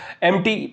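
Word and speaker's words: empty: एम्प्टी पढ़ते हो। ठीक है? यहां पे पी साइलेंट है। तो आप किसी को सुनोगे तो फिर आपको लगेगा कि हां पी साइलेंट होता है।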